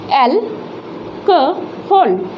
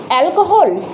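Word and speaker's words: alcohol: उसके बाद आता है एल क होल, एल्कोहल, एल्कोहल नहीं, एल क होल, एल्कोहल।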